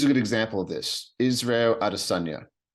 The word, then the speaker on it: Israel Adesanya: Israel Adesanya is how you pronounce it properly.